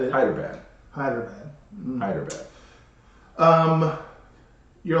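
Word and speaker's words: Hyderabad: Your coworker from Hyperbad, but that's not how you say it. You said it. Hyderbad.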